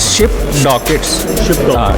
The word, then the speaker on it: ShipDocket: इज शिप डॉकेट basically, इसका actual pronunciation क्या है? Actual the pronunciation is शिप डॉकेट्स।